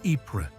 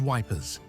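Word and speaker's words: Ypres: One famous example was the Wipers Times made by British troops near the Belgian town of Epra, which they mispronounced as Wipers.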